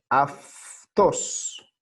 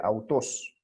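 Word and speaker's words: αὐτός: en español efe s se lee a 2 aunque se escribe autos por qué estamos haciendo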